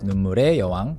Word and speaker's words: 눈물의 여왕: It's written as 눈물의 여왕, but people would normally pronounce it as 눈물[에] 여왕, Queen of Tears.